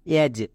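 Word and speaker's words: edge: ক্ষেত্রে এক্ষুনি বলে আসলাম ডি এর পরে যদি জি থাকে তখন ডি সাইলেন্ট তার মানে এর উচ্চারণ করতে হয় না যেমন ই জি ই এজ এখানে ডি এর উচ্চারণ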